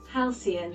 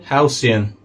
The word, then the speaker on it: Halcyon: Halcyon. Halcyon.